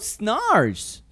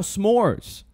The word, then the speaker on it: s'mores: doing I'm like oh we're making s'mores oh snars I'm like no no no s'mores she goes hm what is that is that